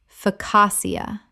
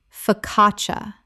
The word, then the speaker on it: focaccia: tumeric turmeric Word 43: focaccia Common mispronunciation: focassia Correct pronunciation. Fuh-cah-cha. The CC in Italian makes a CH sound.